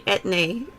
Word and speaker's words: Etienne: I know your name is Etienne, but Etne. every time I actually. hear your name, I can't not think of Auntie Anne's pretzels. Well, it's actually Etne.